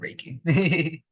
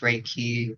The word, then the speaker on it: Reiki: Reiki really is uh we have pronounced raiki um and some my teaching that has heard people say pronounced as raiki uh however you wanted to uh say I've heard people say raik um honestly it's it's all the same it's all going to be spelled the same uh but Reiki overall